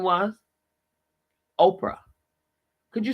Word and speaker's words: Oprah: Oprah. Could you spell that, please? He said. I did. Oprah. And the H is silent.